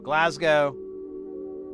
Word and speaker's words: Glasgow: Glasgow. Oh, actually I was I think I thought it had a C in it, but it's a G.